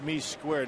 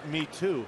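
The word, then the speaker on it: Me²: green for details that's me Square not me too right it's okay but you know what in reading the parenthesized area it's pronounced me too so I was right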